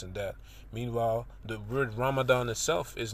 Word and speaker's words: Ramadan: southeast you know anyway Ramadan since that is the pronunciation of the word in the Quran Delhi based writer RAR